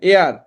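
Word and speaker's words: heir: এয়ার এর ক্ষেত্রে দেখেন এয়ার, এটা কিন্তু হেয়ার না, হ্যাঁ? এয়ার মানে কি? উত্তরাধিকারী। সো এয়ার এর ই থেকে শুরু হচ্ছে।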